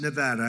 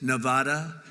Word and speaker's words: Nevada: heard of it and don't ever mispronounce the name you're not allowed to do that you you mispronounce the name you got a problem you ever see somebody when they say it's Nevada Nevada no they're they're in deep they're in deep trouble I I want to